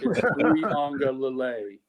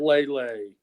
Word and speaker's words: Uiagalelei: Say it right, please. It's Uiagalelei. It's not Lele.